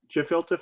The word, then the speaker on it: gefilte: or gefilte fish or whatever. Gefilte. Hard G.